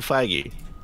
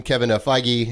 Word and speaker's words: Feige: Please welcome Kevin Feige, and then he doesn't correct anybody. You go, okay, it's Feige.